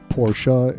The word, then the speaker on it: Porsche: but just want to let you know that porsche is the proper pronunciation if we look at the porsche logo